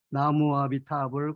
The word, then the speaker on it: 나무아미타불: 남영남자에다 옷을 문자를 쓰고 발음할 때는 나무입니다 왜 원래 발음이 나무이기 때문에 우리 그걸로 표현할 때는